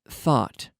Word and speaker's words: thought: pronounce them no no you don't have to pronounce all those letters you're gonna say thought th o ug HT you're gonna see all those letters and you're gonna say thought like a like the theta